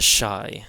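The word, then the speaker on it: Ϣ: So this is the shai. This is the shai and it's pronounced sha as in shake and this is one of the uniquely Coptic letters.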